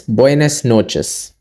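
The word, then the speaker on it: buenas noches: buess noes buess noes it ends with an as so good afternoon good evening good night all of them ends with an as just in the morning we go with an OS let's take an example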